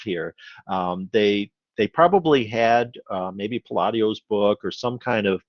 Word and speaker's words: Palladio: Palladio, yeah. Palladio. I mean, once again, Palladio, yeah, is more the pronunciation.